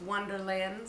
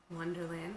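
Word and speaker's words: Onederland: but if you don't, it's Wonderland spelled with O-N-E, Wonderland, which just means that you're in the 100s.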